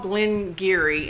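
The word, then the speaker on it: Glen Garioch: It's called Glen Geary, and it's spelled Garioch.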